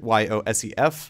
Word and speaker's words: Yosef: And his name comes from more of like the Appalachian pronunciation of the word yourself. So Yosef, like no matter how old you get, always stay true to Yosef.